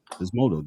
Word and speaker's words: Physmodo: Physmodo.